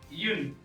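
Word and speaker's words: une: अब ये यू जो है ये यू नहीं होता, यू होता है ईयू, थोड़ा अंदर से निकालना इसको आपको, तब आप अच्छे से इसको प्रोनाउंस कर पाएंगे यू, ठीक है ना, ये डायरेक्ट नहीं बोलना।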